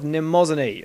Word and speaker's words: Mnemosyne: Anyway, I am lead reviewer Mnemosyne12544, and this is our review of Rin, Daughters of Mnemosyne. And yes, that is how you pronounce it.